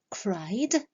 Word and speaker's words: cried: Cry se terminant par un son sonore, la terminaison ed se prononcera de, cried.